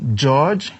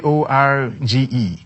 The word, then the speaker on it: Jorge: Yeah, it's it's not pronounced as George. It's Jorge.